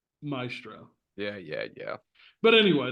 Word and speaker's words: maestro: B just like what the Italian pronunciation is closer to my asro than Maestro yeah yeah yeah but